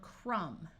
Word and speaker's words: crumb: this lesson is optional if you have MB at the end of a root word the B is silent like in the word crumb but sometimes the B